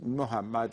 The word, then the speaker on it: Muhammad: with an m o That's the Persian U pronunciation okay the Arabic is Muhammad and so it's mu so uh what what